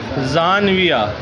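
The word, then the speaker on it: ژانویه: بس کہیں گے۔ تو بہت سے لفظ بدلتے ہیں۔ تو دیکھیں انگریزی مہینوں کے فارسی تلفظ۔ جنوری، جنوری کو کیا کہیں گے؟ زانویہ، جنوری کو زانویہ، فارسی بولنے والے زانویہ کہیں تو سمجھ جاؤ کیا کہہ رہا ہے؟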